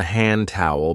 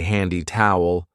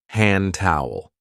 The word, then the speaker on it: hand towel: We don't usually say handy towel. We link it and we say hand towel. Hand towel.